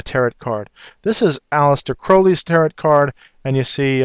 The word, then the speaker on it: Crowley: card this is aliser Crowley's tarot card and you see uh uh he wanted his name actually pronounced Crowley instead of Crowley because he wanted to rhyme with holy and I don't want